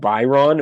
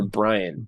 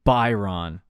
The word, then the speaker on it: Byron: Is it Byron or Brian? Byron. It's Byron.